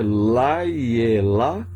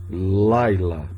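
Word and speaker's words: לילה: Se é Laiela ou apenas Laila?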